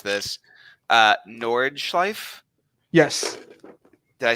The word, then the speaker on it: Nordschleife: I'm gonna butcher how to pronounce this. Nordschleife?